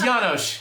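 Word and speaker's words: Janosz: It's Janosch.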